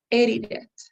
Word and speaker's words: edited: is is okay but you have to uh stress the word in the first part in the first syllable so it's edited can you say it